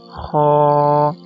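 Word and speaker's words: خ: इस लेटर को कैसे मोटा किया जाता है? इसको लिप्स कर्व करके इसका मखरज अदा किया जाता है, लेकिन लिप्स को कर्व इतना नहीं करना कि वो सर्कल हो जाए, इसलिए लिप्स को थोड़ा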